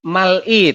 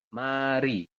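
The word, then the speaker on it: 말이: jadi bunyi awal contohnya Ini Harusnya itu mal I tapi teman-teman membacanya berubah menjadi mari ya Jadi dibacanya langsung Mari bukan Mal I kemudian yang ini juga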